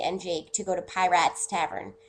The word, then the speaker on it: Piratz: Jake to go to Piratz Tavern. It's actually, I think, supposed to be Pirates, but it's spelled like pie rats, so I say it like that as a joke.